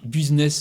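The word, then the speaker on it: Busin'ESS: Alors, qu'est-ce que c'est que ce club Business, ESS, Business Alors, tu dis comme tu veux. Ouais, tu as raison, Eric. Bon, préciser. Alors, ça s'écrit B-U-S-I, Busin, apostrophe, E-S-S. Business.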